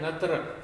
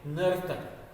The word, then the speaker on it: नर्तक: तो लिखा है नतरक, ये गलत है। अब इसमें र पहले नहीं होता है, ये क्या हो जाएगा, ये गलत है। ये रन तक हो जाएगा, रन तक, जो सही नहीं है। ये सही है नर तक, पहले न का उच्चारण, फिर र का, फिर त का, फिर क का, नर तक।